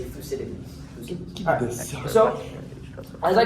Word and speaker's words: Thucydides: Anyway, so first of all, I know that many people mispronounce his name. It's a bit of a mouthful. So let's say it together: Thucydides. Thucydides.